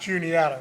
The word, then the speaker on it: Juniata: I mean, pretty sure everyone here knows it's pronounced Juniata, right?